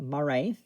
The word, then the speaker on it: Maraith: So yeah, that is how it's pronounced, Maraith.